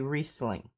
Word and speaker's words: Riesling: Well, if it's German, you pronounce the second vowel, so it should be Riesling.